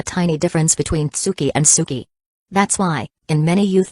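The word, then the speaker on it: 好き: Not Tsuki, but Suki.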